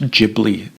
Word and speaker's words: Ghibli: It's pronounced Ghibli.